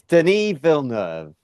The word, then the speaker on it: Denis Villeneuve: We're gonna spend the next fucking 4 years trying to It's pronounce his name. it's Denis Villeneuve.